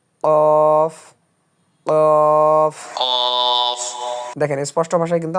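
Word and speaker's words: قاف: একদম নিচে এই যে কিভাবে উচ্চারণ করবেন এখানে দেওয়া আছে। কফ কফ কফ দেখেন স্পষ্ট ভাষায় কিন্তু আমাদেরকে জানায় দিল যে এর নাম হচ্ছে কফ।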